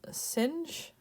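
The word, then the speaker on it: sinh: and the hyperbolic cosine some will pronounce this as kosh and singe i'm not a fan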